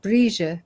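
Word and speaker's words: Bríd: It's called Gawam Malta Brige. Brige is how you say Bridget.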